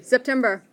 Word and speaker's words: September: The next one, the S you pronounce like a Z. There you go. Everybody, September.